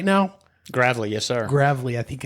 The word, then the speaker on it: Gravely: Jeff grle and I think I used to pronounce his last name very differently and I'm glad am I saying it right now grle yes sir grle I think I used to say Gravely or something youve probably heard it all I